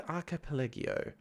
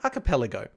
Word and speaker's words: archipelago: gam playay wanding the aripo a Trippy little puzzle exploration game let the world guide you through a strange and uniquely beautiful I always pronounce that word wrong aripo archipelago a capelo that's correct I'm sure it is